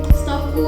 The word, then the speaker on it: STOQU: Jadi Stokku itu kami ganti dengan huruf Q agar terkesan lebih profesional dan juga modern gitu. Biar gak hilang kesan estetiknya gitu dan brandable juga. Jadi Stokku diganti dengan Q. Jadi Stokku dibacanya.